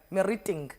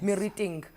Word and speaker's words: Meriting: Meriting Center. Yes. Meriting. Lerato Msimanga, welcome to the show. Thank you, Meriting. Anele. Yes, Meriting. Meriting, because earlier I was going meriting.